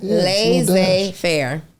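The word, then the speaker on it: laissez-faire: was right the first time hyphen lay Fair L Fair that's how you say it that's a little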